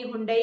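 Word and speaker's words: Hyundai: अध्ययन से पता चलता है कि केवल 6% लोग ही हुंडई का सही उच्चारण कर सकते हैं। नाम कहने का सही तरीका है हुंडे।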